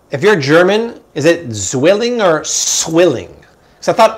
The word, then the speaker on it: Zwilling: Somebody once told us swilling. But then I thought the German said, no, it's not swilling, it's zwilling. Did you talk to a German? If you're German, is it zwilling or swilling?